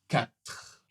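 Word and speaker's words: quatre: La prononciation au complet sera 4 4 Tu vas ? On finit bien avec le R et le E n'est pas prononcé.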